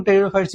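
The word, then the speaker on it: pteridophyte: उसके अंदर प्लांट के अंदर एल्ग, ब्रायोफाइट, टेरिडोफाइट, जिनोस्पर्म, एंजियोस्पर्म रहता है। ठीक? यहां पे देखिए पी पी यहां पे साइलेंट रहता है इसलिए इसको टेरियोफाइट्स ही पढ़ा जाता है।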